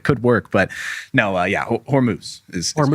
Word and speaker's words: Hormuz: the comments if I if I dared to pronounce this word wrong. Yeah, exactly. Yeah, could could work. But no, yeah, Hormuz is Hormuz.